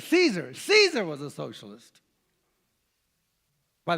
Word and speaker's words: Caesar: the way to H Caesar Caesar was a socialist by the way have you ever wondered how you pronounce Caesar the word is pronounced Kaiser ever recognize the Kaiser